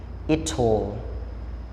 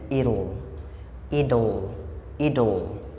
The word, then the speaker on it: it'll: he will he'll she will she'll it will it'll แต่คันถ้าเราออกเสียงตามคนอังกฤษเนาะเป็น British English เขาจะออกเสียงตัว T แบบตามตัว T เลยก็คือ it'll แต่ถ้าเราเว้าตามสำเนียง American เนาะก็คือจะเป็น American English อาจารย์เว้าสำเนียงอเมริกาเนาะคือเขาจะออกเสียงตัว T เป็นเสียงตัว D เพราะฉะนั้นจาก it'll เขาจะเป็นคนอเมริกาเขาจะออกเสียงเป็น idle โอเคอันนี้แล้วแต่ผู้จะสะดวกเว้าเนาะกันถ้าอยากเว้าแบบสำเนียงคนอังกฤษ it'll สำเนียงอเมริกา idle เนาะเอามาอ่านลืมคืนอีกรอบหนึ่ง I will I'll